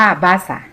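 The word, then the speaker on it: באסה: คำ นี้ นะ คะ อ่าน ว่า บาซ่า บาซ่า แปล ว่า อะไร บาซ่า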